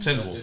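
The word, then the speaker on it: Tindwyl: Tindril.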